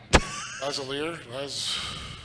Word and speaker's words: Lazalier: Lazalier? Yeah, I think so. Lazalier? Lazalier? Think Lavalier. Lavalier. Now you wear Lavalier. Yeah, but think that. Yeah, Lazalier.